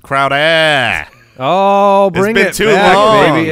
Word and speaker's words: Crowder: yeah I mean it it's it's pronounced Crowder Oh bring it to